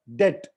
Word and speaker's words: debt: वैसे ही DEBT डेप्ट नहीं होता है, डेट, राइट?